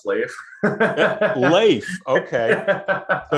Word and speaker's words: Leif: where did the name leaf come from because leaf you know i haven't corrected you but it's actually pronounced slave life okay so it's not like a viking okay